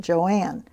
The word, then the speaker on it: Joan: a n and so on my birth certificate it's j o an but they pronounced it Joanne and when they realized that nobody pronounced it that way they changed it just